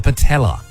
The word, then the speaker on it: patella: Where in the human body would you find the patella? Ben, What is it, mate? the patella Rhymes with Nutella.